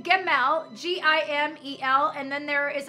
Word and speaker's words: Gimel: that is coming, it is a representation of Gimel, which means the carrier of the supply of heaven.